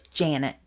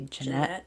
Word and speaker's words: Janet: 13-year-old I think it's Janet it's spelled j a n TT so I keep wan to say Janette but I don't know feel like Janette would have an e at the end yeah so Janet Chrisman